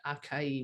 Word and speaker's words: acai: It is our new, whatever that, I never knew how to pronounce that berry, that acai, whatever.